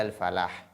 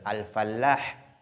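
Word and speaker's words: الفلاح: Al-falah, ça veut dire la réussite, le succès, qui est différent de al-fallah. Lorsqu'on met de l'accent sur l'âme, ça devient le cultivateur. Le cultivateur. Donc, c'est pourquoi il faut pas mettre de l'accent sur la lettre lam. Il faut dire hayya ala al-falah et non fallah.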